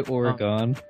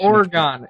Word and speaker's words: Oregon: the popular franchise origon Trail did you say origon like that's the that's like the most awkward pronunciation Oregon it's Oregon not Oregon I know it's Oregon